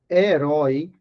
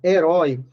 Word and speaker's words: herói: herói herói tá vendo a sílaba tônica é a última e acentuada por quê